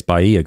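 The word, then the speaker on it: Bahia: there Bea grass and by the way it's Baya grass because there's something on um another Channel where he was making fun of saying it in a different way but just so we're clear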